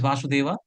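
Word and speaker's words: वसुदेव: So, in the pronunciation, sometimes we get confused. So there are two words, Vasudeva and Vasudeva. So Vasudeva is husband of Devaki Mataji, and Vasudeva is Krishna.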